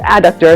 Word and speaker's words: adductor: But my goal today is to train this, the adductor, I keep saying adductor, it's adductor, it's really the proper way to say it, to hold me while I stand in place, right?